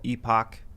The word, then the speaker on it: Epoch: Hey, is it confirmed that it's called Epoch Times and not Epic Times? Both pronunciations are correct. I say epoch because I'm from Appalachia. So that's, just naturally where my accent goes.